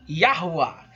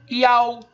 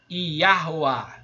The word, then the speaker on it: Yahuá: Então, para mim, Yahu está errado, está faltando letra nele, tá bom? Essa é a minha opinião, tá? A pronúncia, na minha humilde opinião, é Yahuá, tá bom?